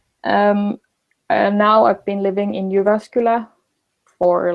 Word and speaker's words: Jyväskylä: the name is kind of like hard to pronounce. It's Jyväskylä.